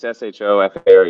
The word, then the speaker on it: shofar: CHOFAR or SHO? Uh, SHO. yeah, it's SHOFAR usually.